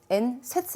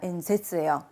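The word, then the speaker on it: 演説: 자, 연설 발음이 엔세츠 아닙니다. 엔세츠예요. 탁점 찍어주셔야 되세요.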